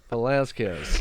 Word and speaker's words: Velasquez: I can't pronounce his name. Oh my God, I'm not. We have the wrong hobby, bro. Velasquez.